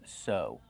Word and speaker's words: sew: The verb is sew. Use a long O sound like no and go.